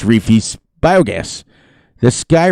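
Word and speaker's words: Reefee: this map biogas plant now on riverview it's reefy's biogas this guy right here is how you pronounce his name where'd i see that uh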